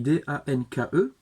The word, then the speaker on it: danke: Merci, danke, s'écrit D-A-N-K-E, on prononce également le E, danke.